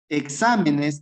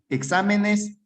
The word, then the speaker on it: exámenes: Cuando se acentúe en la ante, sí, puede ser en la antepenúltima sílaba o en la tercera tercera sílaba contando desde el final.